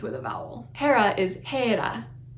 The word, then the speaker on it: Hera: Hera is Hera, Hera. Once again, it looks like an H. It's not an H, it's an eta. The h sound comes from the little rough breathing on the beginning.